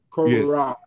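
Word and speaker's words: Korat: you were at Kat am I am I pronouncing that correctly Kat Kat corat yeah cor but before that you you in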